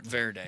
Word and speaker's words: Cape Verde: I don't still don't even know how to pronounce Cape Verde. Cape Verde, whatever. Cape Verde.